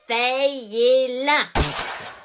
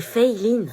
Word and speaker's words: Feyelin: C'est Feiline. Fayez-la. Feyeline? C'est Feiline. Bah, c'est écrit Feyelin. Oui mais ça se prononce Fei, c'est américain en fait. Et Line parce que c'est asiatique.